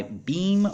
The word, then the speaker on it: Bem: this particular brand now I know that there are pronounced beam because on the back of the box it says that you pronounce it beam so that's handy if